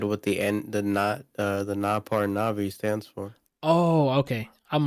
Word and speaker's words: Navi: Natus is the next one. No, it's Navi. Yeah, Natus Vincer, Navi. Brian said not. What did Brian say? I said what the NAPAR Navi stands for.